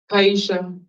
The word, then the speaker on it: Kiashia: Kaisha Kaisha Okay.